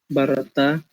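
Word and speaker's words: בָּרָאתָ: Barata, you created. But the And accent then is on the second syllable, barata.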